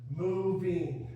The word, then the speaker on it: moving: Moving has 2 syllables. And the stress is on which part? Listen carefully. Moving. Moving. Moving. The stress is on the first syllable, like syllables. Moving. We wouldn't say moving, moving.